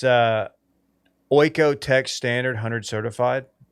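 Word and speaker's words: OEKO-TEX: It's Oiko Tech Standard 100 certified. OEKO Tech certified. That's how you say it.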